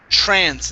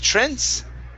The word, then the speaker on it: trance: uh next up is trance instead of trence it's an a sound track trance trans okay